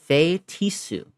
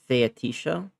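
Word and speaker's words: feitiço: Fetisu. Is that how you pronounce uh the word uh that I was doing is fetisha. So it's fetisu.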